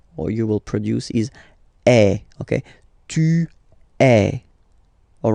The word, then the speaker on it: est: So il est, or then elle est. So you can notice that even if we write them differently, this est like that and est like that, we pronounce them the same way.